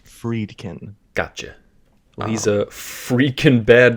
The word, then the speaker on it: Friedkin: William freaking William freaking what fried friedkin uh freed pronounced freedkin gotcha he's a freaking